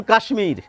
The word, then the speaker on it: কাশ্মীর: আবার এর বাইরেও কিছু রয়েছে, যেমন কাশ্মীর। কাশ্মীর শব্দের তালব্য স-এর সঙ্গে একটি মফলা যুক্ত থাকে, আমরা কিন্তু তালব্য স এবং ম দুটি বর্ণেরই উচ্চারণ করে থাকি।